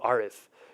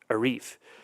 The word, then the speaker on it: Arif: and they'll say well why are they calling you arith you told me your name is Arif and I say to them because most white folks can't pronounce Arif and I'm not a guitar riff right from a song but there the nomenclature